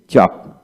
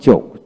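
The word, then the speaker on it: chalk: এইচ এ এল কে চক চক আবার চোখ চোখ হলো ব্রিটিশ উচ্চারণ চক হচ্ছে আমেরিকান উচ্চারণ তারপর আসেন ওয়াকিং ওয়াকিং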